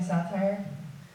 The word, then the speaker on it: satire: A lot of people think that I'm doing satire. I'll tell you when it's satire. Okay? Satire rhymes with hellfire.